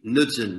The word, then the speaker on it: Knudsen: Is that how you pronounce that name? Yeah, Deputy Knudsen, yeah.